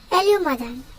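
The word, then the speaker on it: 아름다운: Now I'll teach you how to pronounce it. Alumadan.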